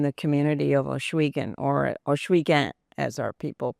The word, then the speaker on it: Ohsweken: So the restaurant, Bobby's Grill, named after my father, was kind of a hub in the community of Ohsweken, or Ohsweken, as our people pronounce it, meeting of 4 paths.